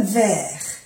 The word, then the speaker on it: verres: Verre, no se pronuncia la E y la S es del plural.